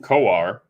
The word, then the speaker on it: Kowar: And Jackson Kowar, that's the way you pronounce his name, former Florida Gator, he goes for the Royals tonight.